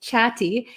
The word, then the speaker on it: chatty: pronunciation here for chatty chatty so there's two T's here and they're kind of sandwiched in between an A and A Y so we have these two vowels here two vowel sounds so